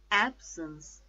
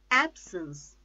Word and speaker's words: absence: more prominent see Abby absence two syllables again add since the stress is on first syllable absence absence absorb two syllables